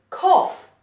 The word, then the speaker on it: cough: Here, we can, this is pronunciation cough. K, o, f. Cough. Crazy, right? Even though it's O-U-G-H, this sound O-U here is different.